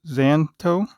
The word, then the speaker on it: Szanto: chest i guess so i'm assuming the s is silent zanz zanto xanto watch i've not seen